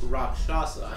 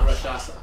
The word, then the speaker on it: rakshasa: you learn is that it is pronounced rakshasa um not rashasa rasha ako um and you